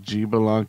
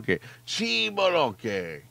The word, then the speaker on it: X'balanque: it makes no sense unless you uh say his name like G Balan instead of chi chi like chi chi pal Chi bonke you move like a